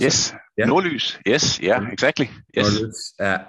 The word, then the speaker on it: Nordlys: to be the Nordlys, is that how you pronounce it? Yes, Nordlys.